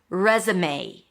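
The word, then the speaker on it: résumé: Or it's resumeé.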